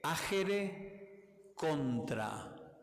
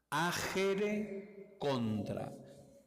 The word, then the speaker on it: agere contra: la noción aere contra se escribe agere con G agere contra agere contra en latín aere contra Qué significa